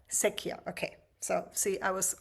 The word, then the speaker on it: Secchia: Secchia. Secchia. Okay. So, see, I was almost gonna say it the wrong way. It's difficult. And that is Italian, right?